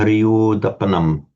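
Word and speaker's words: pariyodapanaṃ: You pronounce that O short, remember, pariyodapanam. Yeah. And in English, we'd tend to pariyodapanam, we'd tend to say, but remember, it's got to be short. Sorry, it's got to be long.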